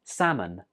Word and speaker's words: salmon: Did you notice something here? Right, the L is not pronounced. So in writing, we write it with an L, but when we're speaking, we don't say that L. It's just salmon.